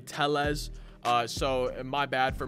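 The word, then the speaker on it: Tellez: this game and also i've been saying rowdy tell yes and a few of y'all have let me know apparently it's rowdy teles uh so my bad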